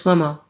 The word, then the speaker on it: Cuomo: Chris Cuomo.